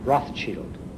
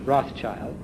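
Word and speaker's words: Rothschild: for the family business the German words for red shield I believe if I'm pronouncing this correctly are Roth Shield so he changed his name from bow to Rothchild as we call it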